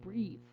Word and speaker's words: breathe: So, lets have the first one, we have: "breath". OK. Without an E (at the end). And the second one, with an E: it's "breathe". OK?